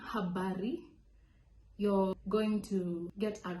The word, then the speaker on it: habari: Number 4, Habari. This is also another one with a very strong pronunciation. So you have to make sure the R is spelled.